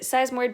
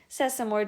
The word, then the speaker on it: sesamoid: yeah that's the only sesamoid bone that you probably care about some people will mispronounce it seismoid bone that does not help because sesamoid will tell you the shape of it so because the long